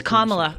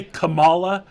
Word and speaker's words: Kamala: it is it Kamala is it Kamala yes like the punctuation Kamala is the corre it's Kamala okay thank you I'm I'm not trying people say Kamala that's not right Kamala it's it's Kamala it's